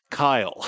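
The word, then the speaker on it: Khy'le: like all fantasy yeah it's k h y apostrophe l e so it's Kyle but fantasy nice um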